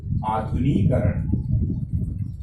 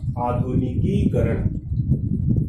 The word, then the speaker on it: आधुनिकीकरण: आधुनिकरण, आधुनिकरण, आधुनिकरण नहीं होता है बल्कि इसका सही रूप होगा आधुनिकीकरण, आधुनिकीकरण, आधुनिकीकरण, आधुनिकीकरण।